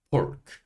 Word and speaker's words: pork: pork. 돼지고기예요. P-O-R 이거를 por 이렇게 발음이 되고요. K는 크. 그래서 합치니까 pork 이렇게 발음이 되는 거고요.